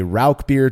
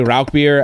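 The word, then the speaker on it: Rauchbier: So I always say Rauch beer, and that's how I kind of learned to pronounce it. And so, I mean, I'm sure somebody will email us and tell us we're wrong one way or another. So, but I go with Rauch beer.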